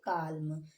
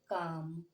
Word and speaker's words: calm: अब आप इसे क्या पढ़ते होंगे, काल्म, लेकिन अब हम इसे क्या पढ़ेंगे, काम।